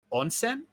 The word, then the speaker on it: onsen: the characters alexis is in a in it's pronounced onsen right an onsen yeah yeah and she's she's covered right the